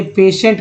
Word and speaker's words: patient: मान लीजिए पेशेंट का स्पेलिंग लिखना है, PATIENT, ये है दोस्तों पेशेंट का स्पेलिंग, जिसमें TI को स पढ़ा गया।